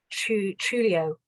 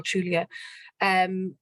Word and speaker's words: Trujillo: And it was a really kind of brutal time, and those who stood in his way, and it's a Trujillo, I think you pronounce it, Rafael Trujillo.